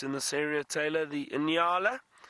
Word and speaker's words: Nyala: And one of my favorite antelopes in this area, Taylor, the Inala. Often a lot of people get confused with that name, Inala, and it's spelled Nyala.